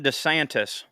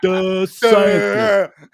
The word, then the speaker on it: DeSantis: Ron DeSantis.